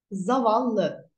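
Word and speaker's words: زواللی: Zavallı. Bakın buradaki vav V harfiyle okunuyor.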